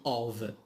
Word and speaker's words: of: We have also in the bottom of, which means في الأسفل, in the bottom of. Here F it is pronounced V.